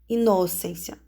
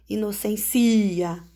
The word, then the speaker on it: inocência: Inocência, você não fala inocência, você não fala inocencia, ok? Você fala inocência.